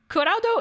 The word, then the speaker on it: Kuraudo: No, Kuraudo isn't Japanese for cloud. It's, I mean, it's phonetically cloud, but the word for cloud in Japanese is kumo.